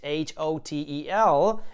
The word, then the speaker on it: hotel: herpes because in italian whenever we see a letter h we tend not to pronounce it for example we spell the word hotel just like in english h-o-t-e-l but we say it